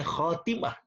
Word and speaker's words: Khotimah: itu menjadi risalah yang Khotimah saya katakan di sini bacanya Khotimah yang artinya adalah penutup